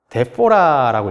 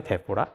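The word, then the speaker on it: διαφορά: 그리스어로 차이라는 단어가 데포라라고 읽거든요. 데포라.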